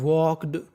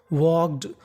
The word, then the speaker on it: walked: देखिए मैं आपको बता दूं, अगर आपको के से पहले L लिखा मिले तो हमें L का उच्चारण नहीं करना।